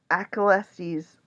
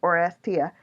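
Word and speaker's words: Oresteia: These stories are told in my pronunciation, Achelestes or Orchestra. Orestia. That's it, Orestia.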